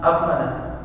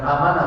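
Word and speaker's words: أمّن: Nah, dalam sunnah qauliyah idza amana al-imam, apabila imam mengucapkan amin, amana, bukan amanah bacanya. Kalau amanah beriman.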